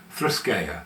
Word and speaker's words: threskeia: H, this one's a little trickier to pronounce. Thrisa. Now that first letter which looks like an O with a crossbar is theta which is a th sound. Next is not a p but a row which is a r sound.